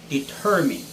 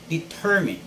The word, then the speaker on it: determine: me guide you here this word is determine determine the stress is on the second syllable term determined and it's not determined and it's never determined okay it is determined tenth word is reputable